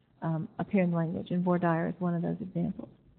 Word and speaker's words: voir dire: That is spelled V-O-I-R-D-I-R-E. These are 2 French words, and they correctly pronounce voir dire, but in Texas we pronounce them voir dire, so a little trivia about pronunciation.